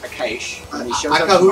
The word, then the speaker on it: Akash: Remember that Akash's name is pronounced Akash. When he shows up tomorrow. Akahush.